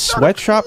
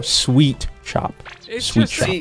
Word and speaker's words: Sweet Shop: Now, some people mispronounce it as sweatshop. No. Sweet Shop.